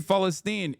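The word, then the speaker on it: فلسطين: Free Fallstine is like is how you say it is actually how you say it in in like he's he's saying it in the in the correct way in the Arabic pronunciation. He's saying it in the OG way.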